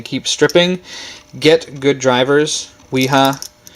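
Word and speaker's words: Wera: Weha. I think that's how you say it. It's a German name. Weha.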